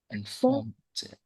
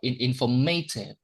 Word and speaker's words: informative: Well, Informative. But it is stressed on the second syllable. We don't say informative or informative. We say uh, informative once again.